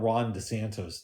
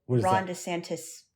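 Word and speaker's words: DeSantis: Oh, by the way, I found out that his name is spelled with an I, not an O. Ronda Santis. Dantis. I thought it was D Santos.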